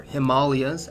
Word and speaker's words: Himalayas: people of Tibet in the Himalayas or Himalayas as is pronounced in South Asia have hence evolved into